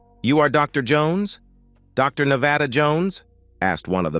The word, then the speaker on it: Nevada: "No, and I use the English pronunciation, Nevada."